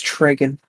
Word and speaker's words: Tregan: you're trigging films yeah it's tragen oh sorry sorry dragon i'm i'm a fake fan i guess now he's a fake fan uh it's it's fine you can pronounce it either way all right it doesn't